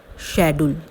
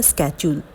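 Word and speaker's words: schedule: Next है शेड्यूल। इसे शेड्यूल या स्केड्यूल दोनों ही पढ़ते हैं, दोनों ही प्रोनाउंसिएशन ठीक है।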